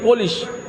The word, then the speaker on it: پولش: Polish نہیں، spelling وہی ہے، پولش. پالش بولے تو معنی بدل گیا، پولش بولے تو معنی بدل گیا.